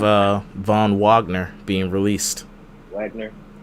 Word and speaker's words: Wagner: Von Wagner being released Wagner I pronounced it with a little German emphasis on it crazy they was using